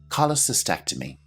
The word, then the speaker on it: cholecystectomy: Let's check our pronunciation one more time. Cholecystectomy.